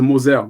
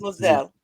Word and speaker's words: Moselle: It is pronounced the Moselle, like a Z. The Z. Moselle.